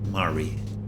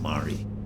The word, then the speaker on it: Mary: At Mari. It actually is spelled just like Mary in English, but I believe the pronunciation is Mari.